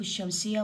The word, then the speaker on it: الشمس: زرع ر هنا عندنا الحروف الشمسيه اللام ما تلفظ يعني هسه ب نقول شمس الشمس باع اللام ما لفظتها التلميذ الثوب الزرع الذهب